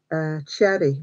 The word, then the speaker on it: Xerri: a lady called Jen Cherry, but it's spelt with Jen, which is Jen, but the last bit is Xerri.